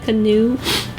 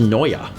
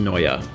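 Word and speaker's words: Neue: a secondary font to use isn't it hel new uh it's pronounced Noya oh but that's okay because and I'm prettyy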